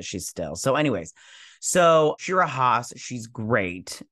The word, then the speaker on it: Shtisel: She was on Shtisel, or Shtisel. Is that what you guys say? Anyways, we pronounce it Shtisel.